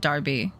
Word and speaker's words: Derby: town called uh Derby which is spelled the way um you guys spell it but I know you pronounce it Darby Darby sure cheer are we